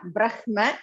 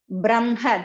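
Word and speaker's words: ब्रह्म: You may have Brahma, that is correct technically, but when you pronounce it, you should have the im first and then ha next. Brahma, this is the one Sanskrit rule.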